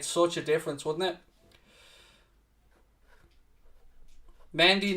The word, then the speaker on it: Mendy: Mendy, not Mondi, don't care.